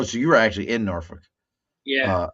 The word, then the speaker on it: Norfolk: you were actually in Norfol Yeah. Uh, you don't even say it right. It's Norfolk. They say Norfol.